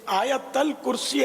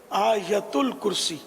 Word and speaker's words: آیت الکرسی: یہ آیت الکرسی عوام بولتے ہیں، صحیح تلفظ ہے آیت الکرسی.